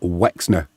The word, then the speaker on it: Łęczna: We're hosting Górnik Łęczna, or Łęczna as it should be pronounced.